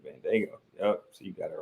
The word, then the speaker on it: Bandaogo: I said Bandaogo. So you said Bandaogo.